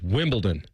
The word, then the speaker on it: Wimbledon: Wimbledon and it's there's not a T in it. Last time I checked there is. It's Wimbledon.